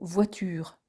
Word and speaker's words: voiture: Et si le mot se termine par une syllabe muette, l'accent tonique sera sur l'avant-dernière syllabe écrite, comme dans le mot voiture.